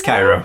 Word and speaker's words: Cheiro: Is it pronounced Cairo? Is it Cheiro? Yeah. Could be pronounced Cairo. Because, like, chiromancy sounds better than chiromancy. Doesn't it? Cairo. Huh. I'll be damned. You're right. It is Cairo.